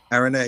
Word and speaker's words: Araneae: Is that how you pronounce it? Araneae, yep.